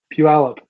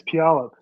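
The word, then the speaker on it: Puyallup: Pu Puab. That is not my cousins live there. It's Pup. Pu Pup.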